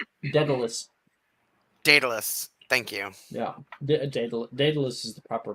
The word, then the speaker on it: Daedalus: Yeah, Daedalus is the proper pronunciation.